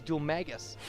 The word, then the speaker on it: Dhoulmagus: And I just heard a character in the game say it, and it was Dhoulmagus. So I don't know why I keep wanting to say Dhoulmagus.